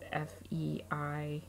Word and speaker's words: Feige: It's spelled like the word beige. It's Feige, from King's Crown.